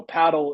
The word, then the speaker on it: padel: And so we want to be uniform with the rest of the world. And so paddle is the correct pronunciation.